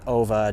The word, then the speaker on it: Ove: about the character OA and I Google it apparently it's supposed to be pronounced OA we're definitely supposed to